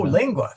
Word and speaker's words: lingua: Yeah, lingua because G's and U's. Sorry, G's and C's are hard in front of U's, but they're soft in front of I's and A's and E's and AE.